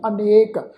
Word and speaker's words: अनिक: 'च बेनती की सी, असल शब्द आ जी अनेक, नन्ने उत्ते एक लां दे नाल, पर इत्थे साध संगत गुरु साहिब ने मात्रा नूं घटाया, नन्ने नूं सिहारी लगाई गया। तो इसका पाठ उच्चारण करांगे अनिक शासन, ससे पैर बिंदी लगा